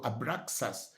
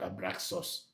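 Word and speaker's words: Abraxas: So abraas is not abraus it's a it's x a s not x u s thank you and then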